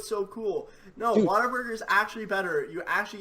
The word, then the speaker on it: Whataburger: Can a In-N-Out burger or a Whataburger, is that how you say it, Whataburger? Yes. What a burger!